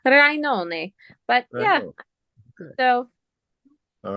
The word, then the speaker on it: Rainone: It's spelled Rain1. It's Italian, Rainone.